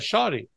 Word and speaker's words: shawty: S-H-A-W-T-Y, a shoddy. Shoddy. So, wow. And not to be confused with being shoddy.